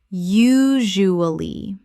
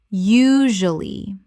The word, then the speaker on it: usually: Usually. Correct pronunciation. Usually. 3 syllables in natural speech. The middle syllable is compressed.